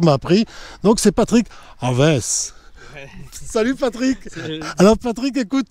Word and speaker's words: Alves: Son nom, c'est une autre affaire, mais je vais essayer de le faire avec la prononciation que Patrick m'a appris. Donc, c'est Patrick Aves.